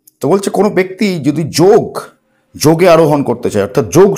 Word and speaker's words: যোগ: ওই জন্য তারা যোগকে যোগই রেখে দিয়েছে, চেঞ্জ করেনি কোনো রকমভাবে। এবার তারা করে দিল যোগা। কেন যোগা করলো? কারণ ইংরেজরা অ উচ্চারণ করতে পারে না, ওরা অকে আ উচ্চারণ করে।